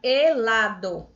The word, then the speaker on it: helado: Por exemplo, a palavra helado começa com H, mas eu só pronuncio a partir da letra E. Então, o H ele não é pronunciado.